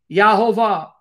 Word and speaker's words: Yehovah: to him is Yod-Heh-Vav-Heh, which can be pronounced Yahweh, Yahweh, Yehovah. Anglicized form, it's Jehovah.